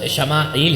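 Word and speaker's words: ישמעאל: 86 برس کا تھا۔ عبرانی میں اسماعیل کا تلفظ شماعیل ہے۔ شمع کے معنی ہے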